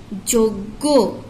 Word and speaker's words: যোগ্য: অন্তস্থ জ ইয়ই বর্গের জ, যোগ্য যোগ্য, গ গয় গটাকে আমরা জোর দিয়ে বলবো গো গো, যোগ্য।